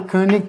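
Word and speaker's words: König: you know if we couldn't pronounce a Hungarian name wrong so it this is called the kic tree Lemma okay and it says that suppose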